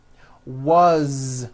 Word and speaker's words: was: Was, which is a very common word.